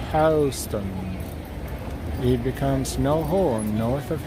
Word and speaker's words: Houston: When I get to Houston Street, pronounced Houston.